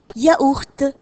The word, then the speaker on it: yaourt: commence avec l lettres c'est la lettre y qui donne la prononciation ya alors cia yaourt ya courte et l'excellent on